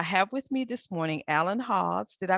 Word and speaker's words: Alan Hawes: So I have with me this morning Alan Hawes. Did I pronounce that correctly?